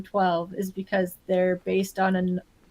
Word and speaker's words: XII: So for anybody who is curious, because I've also been told, is it Z? How do you pronounce Z? It's 12. It's Roman numerals.